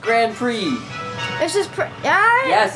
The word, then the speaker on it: Grand Prix: I told you was Grand Pricks it's Grand Prix it's pronounced Grand Prix this just yeah yes it says it's spelled like that but it's pronounced Grand Prix my T childhood is